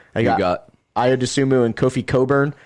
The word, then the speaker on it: Cockburn: They got Ayo Dosunmu and Kofi Cockburn. His last name's spelled Cockburn, but it's pronounced Coburn.